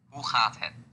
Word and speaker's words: hoe gaat het: Hoe gaat het?